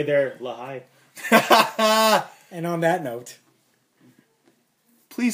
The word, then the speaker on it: Lehigh: It's spelled Lee, but it's Lehigh.